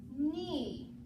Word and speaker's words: knee: The K is silent in the word knee.